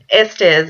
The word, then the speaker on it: Estes: It's actress, producer, and writer, Estes. And please forgive me if I pronounce your last name incorrectly.